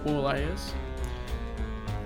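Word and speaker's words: Borleias: the planet boreless b-o-r-l-e-i-a-s think it's pronounced poor layers and there's a couple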